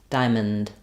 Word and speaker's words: diamond: IPA is going to be first syllable stress the I dip thong and then you might see awah written there between the m and the N but it's very very short and reduced Diamond so it was